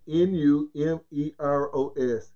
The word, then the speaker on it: Números: N-U-M-E-R-O-S.